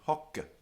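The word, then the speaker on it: hocce: But even without the E on the end, it's still pronounced hicke and hocke. The consonant is long. How do you have a long consonant? You go like this. Kke, kke, hicke, hocke. It's like hick, hock.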